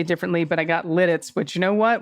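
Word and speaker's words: Lititz: In regards to the Central PA town names, Ephrata is pronounced Ephrata. Lidditz was said perfectly, and yes. Lancaster is Lancaster. Okay, Lancaster, I'll say differently, but I got Lidditz, which you know what?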